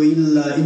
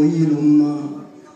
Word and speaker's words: Ilum: Se noi andiamo ad osservare, per esempio, il logogramma sumero che indica la parola Dio, che in sumero si pronuncia Dingir, in accadico invece si pronuncia Il o Ilum, gli accadi erano, cioè,